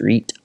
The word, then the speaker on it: REIT: cannot remember but uh i'm pretty sure it's pronounced reet reit i gotta tell you